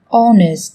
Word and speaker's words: honest: Trong tiếng Anh cũng có một số từ mà cách viết chúng ta thấy xuất hiện chữ cái h, nhưng khi phát âm thì chúng ta lại không cần phải phát âm âm này, người ta còn gọi là âm h câm.